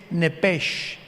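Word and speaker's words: נפש: en el hebreo es nepes con s h al final Como suena nepes pero la sh en hebreo se pronuncia como J entonces se pronuncia nepe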